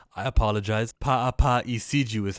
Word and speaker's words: Paapa Essiedu: us to the actor Papu. How do you say his name? I apologize. Paapa Essiedu is how you say his name.